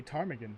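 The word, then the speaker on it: ptarmigan: A tarmaggan. Yes. Remember there's a there's a P there technically.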